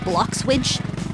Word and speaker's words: Bloxwidge: I bet you didn't know that this town was called Bloxwidge. Kinda rhymes with sandwich.